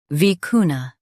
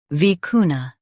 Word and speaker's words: vicuna: vicuna Now read the syllables shown on the screen naturally. vi cu na vicuna Stress cu and keep na light. It's a South American animal. vi cu na vicuna Stress cu and keep na light.